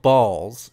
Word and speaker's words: BAWLS: It's called Balls. It's BAWLS, but it's an energy.